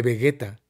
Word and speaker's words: Vegeta: dijimos bellita a Vegeta Y por qué no le decimos Vegeta en todo caso porque la g es inu es Vegeta no como Gerardo claro Debería ser Vegeta pero Vegeta cara no Entonces no no le digan Vegeta Díganle Vegueta pero no lleva u ya